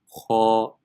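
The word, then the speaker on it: خ: So if you were to say empty mouth, just to hear the difference, empty mouth will be pronounced kha, kha, but full mouth is kha.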